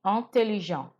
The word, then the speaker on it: intelligent: Il est intelligent. Notice that I stopped my pronunciation at the en, which makes the sound. The T was not pronounced in the masculine.